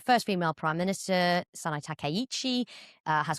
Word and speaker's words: Takaichi: So, a first female prime minister, Sanae Takaichi, uh has called a snap election. Good pronunciation.